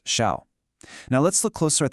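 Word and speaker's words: 孝: Their primary role is defined by a concept that is absolutely crucial to understand, filial piety, or shao, pronounced shao.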